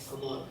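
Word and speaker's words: cupboard: ನೋಡಿಲ್ವಾ ಕನ್ನಡದಲ್ಲಿ ಇದನ್ನ ಓಕೆ ಇದರ ಸರಿಯಾದ ಉಚ್ಚಾರಣೆ ಬಂದು ಕಬಾಬ್ ಕಬಾಬ್ ನೋಡಿ ಕನ್ನಡದಲ್ಲಿ ಕನ್ನಡ ಸ್ಪಷ್ಟವಾಗಿ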